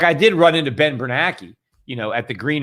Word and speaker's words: Bernanke: i met uh um bernanke i always pronounced that guy's name wrong somebody was you know kind of call me out yeah it's not it's bernanke right not bernanke ben bernanke some way i